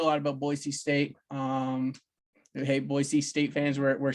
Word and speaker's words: Boise: Hey, Boise State fans, we're saying it correctly for you too.